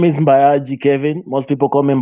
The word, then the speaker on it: Mbayagi: but yeah so uh my name is mayaji kevin most people come in bayagi because i mean it's gi uh kenyans find